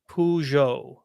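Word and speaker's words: Peugeot: stellantis is what owns okay vide says it's pronounced pujo okay PUO which supports my opinion of their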